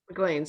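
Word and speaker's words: Maclean's: So there's a service called, I hope I'm saying it right, McLean's. Am I saying it right? McLean's, yeah.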